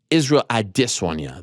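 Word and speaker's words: Israel Adesanya: whatever case you make say his name correctly it's israel adesunya that's the name thank you very much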